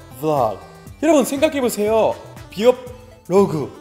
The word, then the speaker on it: vlog: 그리고 이렇게 알파벳 V로그 아닙니다, 여러분. 그냥 단어 되는 거예요. Vlog.